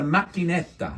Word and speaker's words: macchinetta: It's coffee, but in Italian it's called a macchinetta.